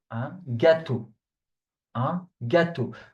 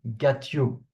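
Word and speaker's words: gâteau: Get to don't do the mistake please of saying get you.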